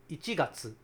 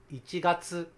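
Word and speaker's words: 一月: Like, for example, you say January, you might be tempted to say ichigatsu, but it's actually ichigatsu, ichigatsu. Listen carefully. Incorrect. Well, it depends on the dialect too, but ichigatsu.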